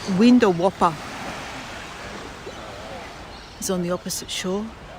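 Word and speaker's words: Windawowpa: houses that's spelled w-i-n-d-a-w-o-w-p-a window Whopper laughs a pic of a Whopper burger yeah similar sounds the same yeah absolutely Stephanie people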